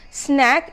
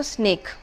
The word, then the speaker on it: snack: a regional axe or a regional pronunciation of the word snack is also snake people buy a lot